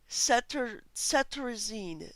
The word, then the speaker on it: cetirizine: We can pronounce it cetirizine.